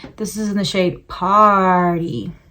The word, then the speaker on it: Party: This is in the shade Party. A lot of people say Partay, but it's like spelled like Party.